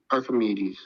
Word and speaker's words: Archimedes: Oh, that's how you pronounce it? Say it one more time, sorry. Archimedes.